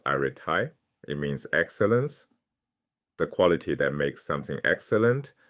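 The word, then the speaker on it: ἀρετή: He introduces a concept the Greeks called arete, pronounced arete.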